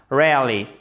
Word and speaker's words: rarely: tonique en première position ça donnera rarely et le E ici deviendra muet vous l'écrivez mais vous ne le prononcez pas et donc vous ne